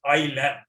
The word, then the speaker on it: ylem: And the scientific word for that one is ILM. ILM is spelled as YLEM.